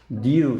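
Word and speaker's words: knew: no 알다 이런 뜻이죠 알았다는 뉴 이렇게 돼요 k가 묵음이에요 알았다 자 그 다음에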